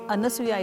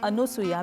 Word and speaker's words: Anasuya: and a chaste woman anasuya should be pronounced as anasuya itself and not anusuya because the word anasuya means one who has no evil or malice towards anyone Atri and anusuya live in